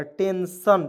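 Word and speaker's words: tension: आई ओ एन तो आई ओ एन है अंतिम में तो इसका उ सन के रूप में हो जाएगा टेंशन टेंशन मींस होता है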